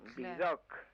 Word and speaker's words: Vidocq: Pero los demás hasta el nombre, pues el nombre, ese nombre que termina en una sílaba aguda, es como que golpea, ¿no? Vidocq.